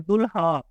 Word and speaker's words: دلہا: पढ़ेंगे मसलन इस अगर इस हे के साथ लिखा हुआ है तो इसमें हे की आवाज आप पढ़ेंगे दुलहा दुलहा और इसमें दुलहन हे की आवाज पढ़ेंगे लेकिन अगर इस तरह लिखा हुआ है लाम की आवाज को भारी बनाया हुआ है और आप पढ़ रहे देख के तो फिर आप इसको पढ़ेंगे दला लाम की आवाज को भारी बनाएंगे यहां की आवाज नहीं पढ़ेंगे और अगर जबानी तौर